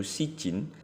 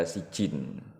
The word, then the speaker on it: Sijjin: films yang identik dengan film horor bermutu yaitu si Jin yang yang diangkat dari film Turki yang dirilis